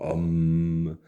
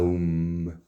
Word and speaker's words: Om: montra sacrés du tibet différentes prononciations home home à oum si cela vous aide